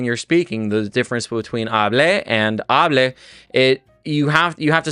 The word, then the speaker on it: hable: Whereas hable, with no accent mark, so the stress naturally falls on that front syllable with that A, is going to be the subjunctive usage.